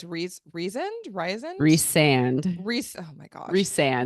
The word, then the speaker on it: Rhysand: is Reese okay re so Reese is reand okay and then is it Luc Lucian Lucian Lucian Lucian Lucian okay so reand reand reand so the emphasis on on the second syllable okay Lucian farra Fara